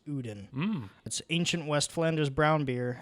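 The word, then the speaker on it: Ouden: this was originally called the uden triple o-u-d-e-n it's pronounced odin ancient west flanders brown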